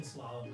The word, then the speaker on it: slalom: Am I saying it even right? I believe you're pronouncing slalom correctly.